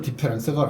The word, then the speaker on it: différance: 그러니까 그냥 한국식으로 발음하면 디페랑스입니다. 예. 근데 실제로 디페랑스가 안 합니다. 프랑스 사람들 뭐 이러고 말더라고요. 못 알아듣겠어요 저를.